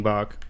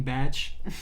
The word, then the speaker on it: Bach: Yeah, King Bach. It's not King Batch.